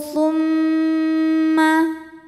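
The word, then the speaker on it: ثُمَّ: Al-amru thumma. Mimnya dihukumi dengan gunnah musyaddadah atau wajibul gunnah atau mim musyaddadah. Sebab mim bertasydid. Cara bacanya didengungkan. Jadi kita tahan bunyi M-nya sampai ada suara masuk hidung.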